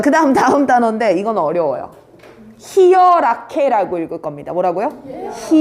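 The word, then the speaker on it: Hierarchie: 히어라케라고 읽을 겁니다.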